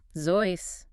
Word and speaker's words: Seuss: Zois, rhyming with voice.